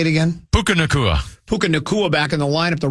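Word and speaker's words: Puka Nacua: Puka Nakua back in the lineup, the Rams would be a different team, and they certainly were.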